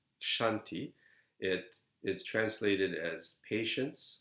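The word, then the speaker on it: Kṣānti: is the third parameter i added the h because it's pronounced shanti it is translated as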